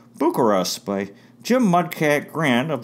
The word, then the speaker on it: Bucyrus: there very friendly people we drove through Bucyrus pronounced Booker us by Jim Mudcat gran of the Cleveland Indians